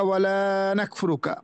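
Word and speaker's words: وَلَا نَكْفُرُكَ: এখানে কিন্তু লা টানিয়া পড়তেছি। কিন্তু যদি লা টানিয়া না পড়ি, অনাশকুরুকা ওয়ালা নাকফুরুকা, অবশ্যই আমরা তোমার বিদ্রোহ করছি, তোমার কুফরি করছি।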